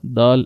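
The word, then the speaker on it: د: So try to pronounce ta, dal and ta from the tip of the tongue and the roots of the upper front teeth.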